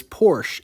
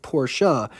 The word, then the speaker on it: Porsche: do people get so upset when someone says Porsche instead of porsa but when it comes to Willis more people